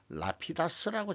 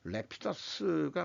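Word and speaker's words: Rapidus: 요게 이제 그 홋카이도 아직 공장을 안 짓고 있는 모양인데 터만 잡은 모양인데 그 치토세 지역이라는 데서 레피더스 장인애들은 라피다스라고 자꾸 발음을 해요. 얘네들은 레피다스가 맞는 것 같은데 우리가 우리식 발음으로 한다 그러면은 그거 여기 공장 짓는 부지를 아주 평평한 데다가 지을 예정인 모양입니다.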